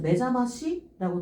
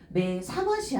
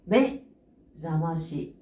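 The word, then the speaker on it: 目覚まし: 지금 보게 되면은 어 그냥 읽을 때는 사메루라고 읽는데요 이렇게 명사 뒤에 동사가 붙자아요 그럼 뒤쪽에 타음이 들어가요 똥 뿅뿅 요렇게 들어가서 매 사마시 아니죠 매 자마시 메 자마시 하게 때문에 잠을 깨우게 하는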